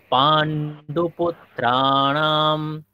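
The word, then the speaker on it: পাণ্ডুপুত্রাণাম্: কেমন করে করছি পান্ডুপত্রাম একটা ন আর একটা ন দুটা নকারের উচ্চারণ আমাদেরকে স্পষ্ট রাখতে হবে যেহেতু আমরা আজ থেকে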